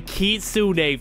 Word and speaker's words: Kitsune: a brand new fruit the kitun fruit and by the way this is actually how you pronounce it so nobody triy